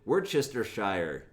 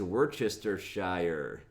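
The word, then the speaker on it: Worcestershire: it were Chester Shire you can't even say it how am I expecting s to spell it but the word is were Chester Shire I believe it's also a place in England maybe maybe not I don't know maybe it's just a sauce I'm not really sure but um we're Chester Shire anybody know how to spell that I'll give you a hint it starts with W there you go would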